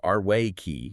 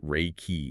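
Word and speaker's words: 霊気: And for anyone who isn't familiar, Reiki, or it's pronounced Arwei-ki in Japanese, though you'll often hear Reiki in the West, it means universal life energy.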